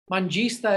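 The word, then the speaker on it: Manjistha: Mangista is how you say this first herb, which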